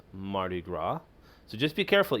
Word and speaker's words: Mardi Gras: And I think I talked about this a little bit before, but it's Mardi Gras. So just be careful, even though there's an S here, do not pronounce the S. So Mardi Gras.